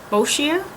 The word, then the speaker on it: Boscia: This is the how the heck do you pronounce this brand? Boscia?